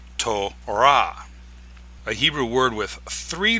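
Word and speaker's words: תורה: But in Hebrew, the closed syllable comes at the end. So in Hebrew, this is pronounced tora.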